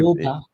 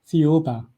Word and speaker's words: Thiaoouba: Now, there's a prophecy that you want to talk about and I cannot figure out how to pronounce it. So, I Thiaoouba. I'm sorry? Thiaoouba.